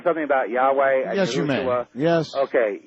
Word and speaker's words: Yahweh: Of course, Yahweh. That you're pronouncing incorrectly.